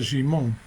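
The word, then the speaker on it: שמעון: eh lo llama Simón lo Llama por su nombre en hebreo eh que se pronuncia jimon no y este este nombre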